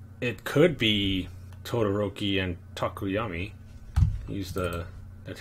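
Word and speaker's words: Tokoyami: But it could be Todoroki and Takuyami. That's how you say his name, right? Yeah, Takuyami.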